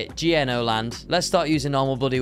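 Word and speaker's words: gno.land: have no bloody idea how to say it gno land let's start using normal bloody words for these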